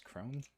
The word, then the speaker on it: krone: with the money because apparently kroner is the plural of it but the singular is chrome that's how you say it so um but